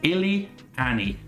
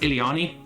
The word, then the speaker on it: Illiani: It is Illy-Annie. So Illy as in I'm constantly ill, and Annie as in the name of that character from Star Wars. So Illy-Annie. I've also heard it pronounced Illiani. Both are good.